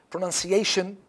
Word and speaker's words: pronunciation: Pronunciation, it's pronunciate, pronunciation, pronunciation. So it is on CA, pronunciation, pronunciation. Five, pronunciation, okay? Ciation, so the fourth, okay?